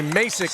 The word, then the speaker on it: Massik: That's Luke Massik. Excuse me. Mik is how you pronounce that.